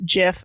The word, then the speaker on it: GIF: people don't at me i know it's jif i'm gonna say gif until i die yeah i don't say jawed i say god so well i'm yeah so i'm going with the soft g so i used a